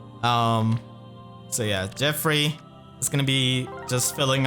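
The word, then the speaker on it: Geoffrey: Okay, Jeffrey just gonna be showing up, and I know many people do point out that that's not how you pronounce his name, but he literally says his name like that in his voice line. So I'm just following the official pronunciation.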